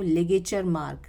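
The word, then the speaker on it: ligature mark: Pronounce करेंगे इस word को लिगेचर मार्क, लिगेचर मार्क।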